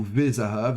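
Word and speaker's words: וְזָהָב: Pour rappel, le shva se prononce plutôt v, e accent aigu si on prononce à l'hébreu moderne, et plutôt ve, encore que c'est discuté, si on veut se rapprocher de la tradition plutôt biblique.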